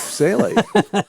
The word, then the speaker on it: Salie: Well, speaking of which, I don't think we even said your second name, which is not spelled with an AI, but it does have the sound. It is Salie, Faith Salie.